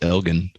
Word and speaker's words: Elgin: directly from the acropolis i think it's pronounced elgin the elgin sausages there's